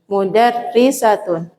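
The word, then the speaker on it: مدرسات: Makanya cara bacanya nanti panjang pendeknya perlu. Kalau enggak nanti jadi sama banget sama mufrad. Mudarrisatun.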